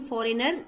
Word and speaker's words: foreigner: इसमें से foreigner, when we are telling foreigner, G का pronunciation कहीं नहीं हो रहा है, so only G is silent.